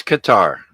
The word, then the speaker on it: Qatar: um is that Qatar equator how do you pronounce that Chuck it's Qatar uh q-a-t-a-r guitar and of course that's in